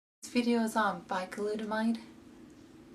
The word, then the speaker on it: Bicalutamide: Its pronunciation is Bicalutamide, and the brand name US is Cosadex.